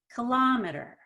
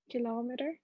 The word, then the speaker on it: kilometer: third one kilometer yes so the ki is just a kick not key but kit more relaxed it's not stressed at all kilometer kilometer yes that's right so